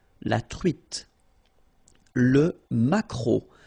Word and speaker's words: maquereau: t, la truite, le maquereau. So technically this k, just pronounce it k, maquereau, maquereau. Alright? And then e, a, u, remember when you combine these three vowels, you get the sound o, maquereau.